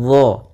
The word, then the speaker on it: ظ: Kemudian pada lafal tuzlamu, hati-hati dalam pelafalan dha. Dha ini salah satu sifatnya yaitu dia huruf dha itu termasuk huruf jahar. yang dimana dia tidak boleh mengalir nafasnya.